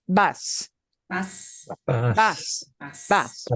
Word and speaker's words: va: that you call by their first name, it's vas. Vas. Vas. Vas. Vas, right? To talk about one person going, whether it's él, a guy, ella, a gal, or usted, the formal you, it's va. Ah. Bah.